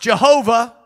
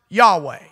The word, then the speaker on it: Yahweh: in the Old Testament though sometimes pronounced Jehovah it should more properly be pronounced Yahweh the T which is